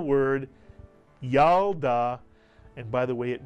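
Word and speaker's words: ילדה: you get y mitsu the shv under the lit is silent it tells you to Simply add the L to the preceding vowel and letter the Y and the to create the first syllable yal the second syllable da and if you can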